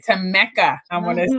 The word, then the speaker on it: Tammeca: name right that's right it's not it's it's spelled p-a-m-m-e-c-a right to mecca i want to say